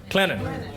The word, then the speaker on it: Clinton: and coming by the, I got to say it right. I say it's Clinton, but it's Clinton. Clinton. I still don't get that. I get South Carolina right, I don't get Clinton right.